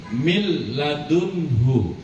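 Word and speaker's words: من لدنه: Mil laduntu tidak boleh dengung. Jadi bacanya enggak boleh begini. Milladun enggak boleh. Milladunu tidak boleh ada dengung sedikitp.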